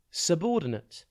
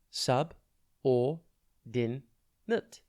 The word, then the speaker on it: subordinate: Today's word is subordinate. It's pronounced sub or din nut, and it is spelt S-U-B-O-R-D-I-N-A-T-E. Think sub or din and then ate.